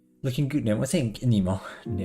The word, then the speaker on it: Nemo: I think Nemo. Because that's how you pronounce it in Latin. Nemo.